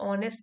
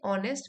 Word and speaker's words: honest: करें और अपने से ऑनेस्ट, ईमानदार रहें अपने प्रति। एज साइलेंट है, ऑनेस्ट विद आवरसेल्फ, खुद के